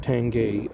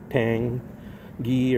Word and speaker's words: Tange: met the owner of the original owner of tangay uh Japanese uh frame uh metals so that's how you pronounce it it's correctly tangay I thought it was always uh Tang gee or tange but it's tangay that's the pronunciation 10 game